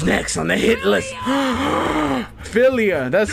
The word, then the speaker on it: Filia: Filia, that's how you say it.